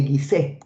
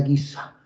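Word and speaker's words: Giza: cementerio la necrópolis de guis Bueno en realidad se pronuncia guisa la necrópolis de guisa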